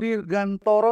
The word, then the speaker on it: Dirgantara: Nama lengkapnya adalah dirgantoro dirgantoro seperti Dirgantara ya kan Tapi bacanya dirgantoro tulisannya Dirgantara ya dirgantoro benar tulisannya dirgantoro